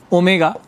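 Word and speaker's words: ohm: क्या बता दिया सर यह ग्रीक लेटर है ओमेगा इसको हम यहां प्रोनाउंस करते हैं ओम ठीक है तो यहां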